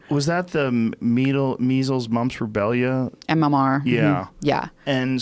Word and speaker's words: rubella: Andrew Wakefield, who contended that his research showed that the combined measles, mumps, and rubella, how do you say it? Rubella, yeah.